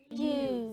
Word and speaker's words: ewe: What is the right pronunciation of E-W-E, children? You. Say it again. You. Louder. You. Exactly. So when you see E-W-E while you're reading or see the word anywhere, please pronounce it as you and not even issue.